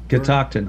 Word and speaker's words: Catoctin: go thank you how's that pronounced uh that pronounced catoctin high catoxin high catoxin sounds like some kind